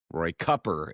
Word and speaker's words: Cooper: Um in North Carolina, Roy Cooper, Roy Cuper, if you want to use his pronunciation, 10.9 million.